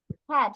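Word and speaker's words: had: এ ডি ও এইচ এ ডি হ্যাড এটার pronunciation হবে হ্যাড হ্যাড অর্থ ছিল আর হ্যাভ অর্থ আছে মিস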